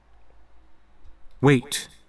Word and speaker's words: wait: E với y đây là nguyên âm đôi. Đó là ghép bởi hai nguyên âm đơn ha. E và y thì cái này phát âm là a. A giống như ai da đau quá. A. Eight. Wait. Chữ W để đọc là chữ W. Giống với từ là when đó. When. Wait. Wait. Nhớ phát âm cuối chữ T nha mọi người.